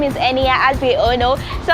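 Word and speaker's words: Niya: My name is Enia, as we all know.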